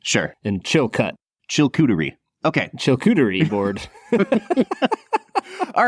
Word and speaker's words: Chilkoot: There's 2 O's, so obviously you should pronounce it, improperly. Sure. And Chilcut.